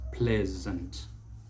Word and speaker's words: pleasant: it the word is pleasant pleasant so note that that l e a will not be ple not e it is a pleasant and of course the s takes the z sound so pleasant pleasant as